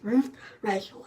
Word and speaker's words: Ruth Reichl: Her name is Ruth Reichl, and I wouldn't have known that if I had just read it in print.